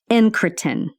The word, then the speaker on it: incretin: I had to go look and figure out how to pronounce it. Incretin.